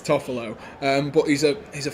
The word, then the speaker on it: Toffolo: player harry tuffalo um i always read it as toffolo and then go oh no i know how to pronounce it it's toffelo but he's a he's